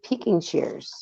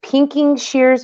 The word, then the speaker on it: pinking shears: you could use your peeking shears okay how do you say it is it pinking shears or peeking shears my mom always called them pinking shears like the color pink